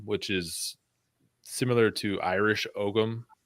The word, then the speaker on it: Ogham: is similar to Irish Ogham. In Ireland, they call it Ogham. In America, we pronounce the G.